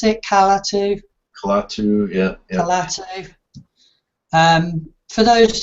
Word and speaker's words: Kalatu: Um, Well, funnily enough, I just started I've got a new Calatu blog. Is that how you pronounce it? Calatu? Kalatu, yeah, yeah.